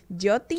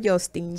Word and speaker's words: Yotin: Por allí lo encuentran como Yotin, así se escribe con Y. Yotin Sin. sin ese. Yotin, no Justin.